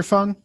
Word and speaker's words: Phung: And am I pronouncing that right, Dr. Phung? That's correct. Yeah. Okay. good. yes. Dr. Phung.